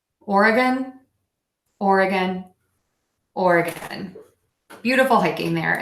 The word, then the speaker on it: Oregon: I think is beautiful and special in some way but this state really loved it or again or uh gun Oregon Oregon or beautiful thinking